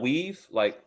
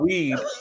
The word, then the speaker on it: weave: I tried I think selling weave like hair, selling hair. Make sure you pronounce that V correctly. Yeah, weave, not weed, not weed, but weave, and right.